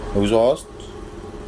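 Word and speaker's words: exhaust: इसके बाद है rule number 13 इफ एच S after x इन a word तो उसमें एच साइलेंट होता है। एग्जांपल ले लेते हैं। एग्ज़िबिशन, एग्जॉस्ट और एग्जॉस्ट।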